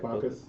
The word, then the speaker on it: Bacchus: I'm I gonna like ask this Bocus demigod.